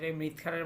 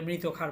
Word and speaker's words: মৃৎ ক্ষার: ক্ষার, alkaline earth metal, যেটা আবার অনেকে মানে ভুল উচ্চারণ করে মৃৎ ক্ষারের বদলে মৃত ক্ষার বলে, এটা না, মৃৎ ক্ষার, মৃৎ মানে মাটি।